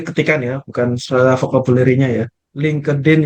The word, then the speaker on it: LinkedIn: ya bukan vocabularynya ya LinkedIn yang benar yang disebutkan oleh Mas Yasir itu benar menggunakan huruf t LinkedIn jadi t-nya tu agak sama-sama tipis-tipis gitu Tapi orang yang